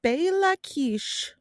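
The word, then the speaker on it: Béla Kiss: So his name was Bela Kish, which I'm going to keep going as Bella Kiss. That is how it is spelled.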